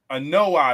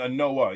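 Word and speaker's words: Anoa'i: family name it's uh how do you pronounce it an noi an noi okay I was saying an Noah yeah yeah um but yeah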